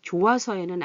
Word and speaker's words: 좋아서: 근데 여기 좋아서에는 아니에요. 같은 계통의 목구멍 계통의 이윽과 히읗과 이응이 만나면 좋아서, 좋아서 어떤 게 발음하기 좋은가요? 이게 더 좋아요. 그래서 얘는 히읗이 소리가 안 나요.